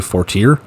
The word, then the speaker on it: Fortier: Stuckey, Desmond Bland, Zach, I pronounced it 48, it's actually Fortier, who knew?